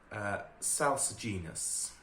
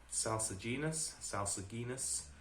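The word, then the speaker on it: salsuginous: And the last word for today is SALSU'GINOUS. SALSU'GINOUS.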